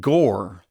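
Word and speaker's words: Gorr: christian bale playing a dude named gore which rhymes with thor anyway that scene was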